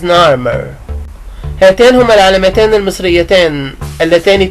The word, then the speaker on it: Narmer: Those are the two Egyptian signs that are pronounced Narmer. هاتان هما العلامتان المصريتان اللتان تنطقان نارمر. Literally نارمر, حرفيا نارمر. The chisel is nar and the fish is mer.